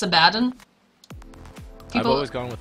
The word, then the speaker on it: Abaddon: Because, like, what's the official pronunciation for Abaddon? Because it's not Abaddon, right? It's Abaddon?